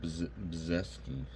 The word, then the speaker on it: Brzeski: Yeah, it says you say his name Brzeski. That's crazy. So you don't even pronounce that R.